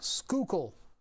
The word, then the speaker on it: Schuylkill: None harder than Skookle. That's how you say it, folks. Skookle. You spell it Schuylkill, but it's Schuylkill. Schuylkill.